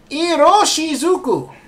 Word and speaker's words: Iroshizuku: Anyway, the ink is Pilot, and how do we pronounce this? Iroshizuku.